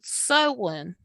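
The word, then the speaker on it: Samhain: gaelic uh tradition and it's called sewin but it's not spelled the same as what it sounds like really really strange it's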